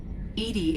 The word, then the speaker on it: EDI: a specific inquiry why are you named edie edie is the phonetic pronunciation of edi that is an acronym for